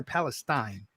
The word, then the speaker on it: Palestine: away from downtown palestine is it palestine or palestine i i asked her and she said she said everybody there pronounces a palestine okay so palestine texas lies